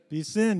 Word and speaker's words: piscine: Piscine.